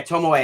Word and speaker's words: Tomoe: Tomoe? Yeah, Tomoe.